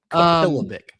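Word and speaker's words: Kapilovic: Former Alabama offensive line coach, Chris Capilovic. I believe is how his name is spelled. Look at you nailing that pronunciation. Capilovic.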